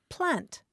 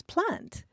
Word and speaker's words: plant: either but the Welsh word for children is plant p l a n t oh how cool